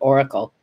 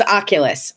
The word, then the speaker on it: Oculus: Maybe I called it Oracle. It's Oculus.